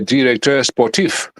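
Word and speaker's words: directeur sportif: So this is why they all the clubs now they have a so-called if you say it in French no no director sportif that's how you say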